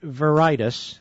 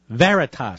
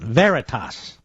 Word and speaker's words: Veritas: I believe he was Project verius is that how you pronounce it Mr Producer Veritas sorry I misspelled it when I wrote it down Veritas James O'Keefe's website we